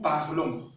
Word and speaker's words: parlons: Au niveau de nous, nous prononçons ON, mais le S n'est pas prononcé. Voilà pourquoi on va le prononcer nous parlons.